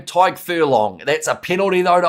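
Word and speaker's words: Tadhg Furlong: How do you pronounce Ireland number 3's name? Tyke Furlong.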